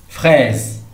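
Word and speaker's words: fraise: اسمعوا معايا فريز فريز. اذا ديك اس نطقناها ز علاش حيت كاينه ما بين جوج ديال لي فوايل اللي هما اي او.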